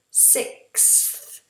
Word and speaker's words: sixth: So do for me a K, k, do for me an S, and do for me a TH. And again, all three together. Sick, sick, sixth, sixth.